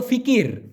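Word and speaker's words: fikir: কি আপা মানে কি মূলত ফিকি না এটা হলো ফিকির কিন্তু মালয়েশিয়ানরা লাস্টের শব্দটা বা অক্ষরটা সাধারণত একটু অনুচ্চারিত করে বা অস্পষ্ট করে উচ্চারণ করে মানে ফিকির এভাবে না বলে ফিকি আপা মানে র টা ছোট হয়ে আসে এজন্য আপাকির এভাবে না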